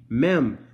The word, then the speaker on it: mem: It's spelt the exact same way, bro. L-A-M-E-D. Mem.